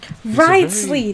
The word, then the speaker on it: Wriothesley: Wriothesley! That's how his name is shrewd pronounced.